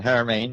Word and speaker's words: Haramein: Nassim Haramein. Mm-hmm. Very good. Yes. It's a hard pronunciation. Haramein, yes.